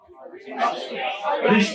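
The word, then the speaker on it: wrist: ज्यादातर कंडीशन में कभी भी अगर एग्जामिनर रिस्ट देता है, आर फॉर रिस्ट, आर for rickets, are से नहीं होता है, डब्ल्यू से होता है, लेकिन डब्ल्यू साइलेंट होता है, तो आर फॉर रिस्ट, आर for rickets.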